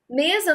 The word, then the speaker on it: mesa: Mesa não tem acento, mas tem aqui, ó, mesa. A sílaba tônica é o me, ok?